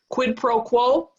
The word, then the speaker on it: quid pro quo: it's a useful phrase quid pro quo three syllables we're going to be